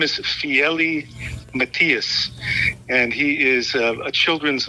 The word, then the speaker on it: Fiely Matias: he said it on the tape that I mispronounced it. Yeah, his name is Fiely Matias, and he is a children's author.